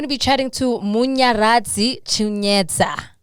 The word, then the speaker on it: Chanetsa: So today we're going to be chatting to Munya Chanetsa. Chanetsa. No, it's Chanetsa. Chanetsa. Hey, I keep getting it wrong.